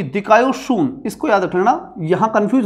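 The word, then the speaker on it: δικαιοσύνη: ये देखो ये दिकायोशून, इसको याद रखना, यहां कंफ्यूज होने की स्थिति होती है, अलग अलग शब्दों का अलग अलग उच्चारण होता है।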